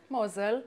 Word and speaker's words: Mosel: Mosel, yeah.